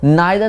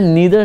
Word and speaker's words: neither: नाइदर नॉर का एक और प्रोनाउंसिएशन है नीदर नॉर और ईदर और। तो ये दोनों ही प्रोनाउंसिएशन, दोनों ही बोलने का तरीका बिल्कुल सही है।